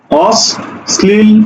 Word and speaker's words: অশ্লীল: সাথে ল ছিল সুতরাং স দুইবার উচ্চারণ হইছে এবং ল উচ্চারণ হইছে এই কথাটা বললাম ঠিক